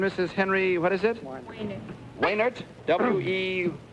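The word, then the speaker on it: Wejnert: Waynert. Waynert. W-E... Was it W-E-J-N-E-R-T? You don't pronounce the J, is that it? Waynert, I see.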